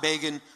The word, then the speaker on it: Begin: So in 1977, when Time magazine was saying Begin rhymes with Fagin, when the American Jewish community, the New York Jewish community, was in depression, we were elated.